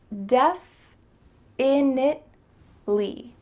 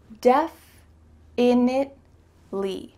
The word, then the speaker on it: definitely: So let's break it down. Def in it le. Def in it le.